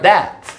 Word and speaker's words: debt: 중독자라는 이 단어가 were people, 그 당시에는 어떤 사람들이었는데, 어떤 사람들이냐면, who were unable to pay their debt. 이때 B 발음하지 않습니다.